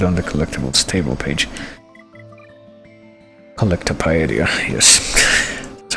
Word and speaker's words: Collectopedia: Collectopedia, yes. That's how you pronounce that.